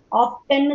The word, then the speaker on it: often: often சொல்லுவாங்க சில people. அது ஆக்சுவலி அந்த pronunciation is wrong. often தான் correct. often. T is silent.